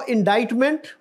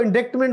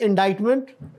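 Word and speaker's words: indictment: तो फर्दे जुर्म लगाना तो इनडाइज मेंट कौन सा लेटर साइलेंट है इसमें हमारे एक वजीर थे लॉ के वो भी तो वो इसको इंडिक्टमेंट बोल रहे थे you know so this is इनडाइज मेंट और ये जो है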